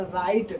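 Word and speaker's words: write: अब देखिए डब्लू के बाद अगर तुरंत बाद आर आता है तो वहां पर डब्लू क्या होता है? साइलेंट हो जाता है। मौन हो जाता है। देखिए यहां पर राइट डब्लू के बाद क्या आ रहा है ना?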